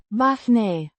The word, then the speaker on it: bani: Pronounced Bahne. with the stress on the first syllable and a similar sound to their Ah. in. Father. The I. sounds like the ee in C.